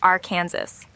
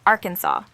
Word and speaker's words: Arkansas: between its early Senators some insisted on the French derived pronunciation Arkansas While others preferred the Americanized our Kansas to settle the matter lawmakers officially chose Arkansas aligning with the original French influence but adding a uniquely